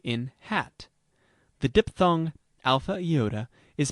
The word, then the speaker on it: Iota: Iota has the sound of I in machine, except before a consonant in the same syllable, where it is pronounced like I in pin.